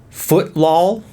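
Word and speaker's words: Footlol: have this game called foot law and no I did not mispronounce that it is actually footlaw f-o-o-t-l-o-l with the l-o-l being capitalized footlaw Epic Soccer League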